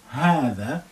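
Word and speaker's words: هذا: Remember, this is hatha. It's actually, we say ha lengthening there, but we don't write it.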